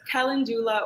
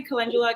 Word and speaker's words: calendula: wants to say it there's two ways to play it so it's calendula or calendula i say calendula because i'm just used to saying it that way yeah yeah yeah no